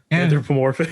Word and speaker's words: anthropomorphic: Anthropomorphic.